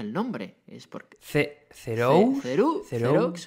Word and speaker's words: Theroux: Theroux, es como francés, ¿no?